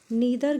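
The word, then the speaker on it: neither: Next, but perhaps नीदर gain nor loss. देखो यहाँ पे आप नीदर भी कह सकते हो, इसे नाइदर भी बोल सकते हो, both द pronunciation are correct.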